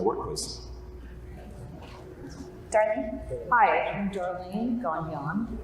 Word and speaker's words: Gagnon: Hi, I'm Darlene Gagnon. It's Gone and Gnon. That's how you pronounce it.